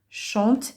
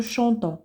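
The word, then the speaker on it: chantent: وهاد او ان تي ما كتنطقش واخا كتكتب، ولكن ما غاديش نقولو شونطون، لا غنقولو شونت.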